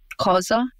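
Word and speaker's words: Xhosa: across the South African tribe um so it's pronounced COA it's so one of those clicking languages but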